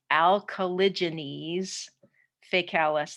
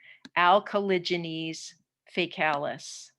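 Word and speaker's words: Alcaligenes faecalis: this lab is called alkalogenesis facalis that's how you pronounce that terrible looking word alkalogenese facalis this one is also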